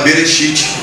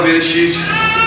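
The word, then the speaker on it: בראשית: e pegar a palavra Bereshit, que começa com B, que pela pronúncia, pela conotação, nós podemos falar que ela se pronuncia como V, e juntarmos as duas palavras, ela dá coração.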